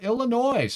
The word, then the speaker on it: Illinois: away but I know I'm not supposed to pronounce the s in Illinois but it's Illinoi um my apologies for